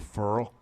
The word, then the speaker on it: Ferrell: Here's the interesting thing, though, is that this is another game where Cleveland Ferrell, as I'm told it's pronounced. Yes, Ferrell.